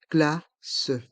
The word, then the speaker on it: glace: crêpe une glace une glace le son ce à la fin du mot glace reste en suspens glace une glace une